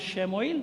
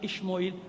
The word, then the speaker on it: شموئیل: نبی کے پاس آئے، اپنے زمانے کے نبی جناب شموئیل، اور کہیں الف سے ہے جناب اشموئیل، کوئی مسئلہ نہیں، ٹھیک ہے نا، بتا دیا میں نے دونوں تلفظ، جناب شموئیل یا جناب اشموئیل۔ نبی تو ہوتا تھا